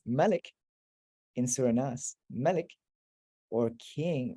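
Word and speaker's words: مالك: But when it comes to Surah Nas, everyone is unanimously on the same page with regards to reciting it as Maliki, as king.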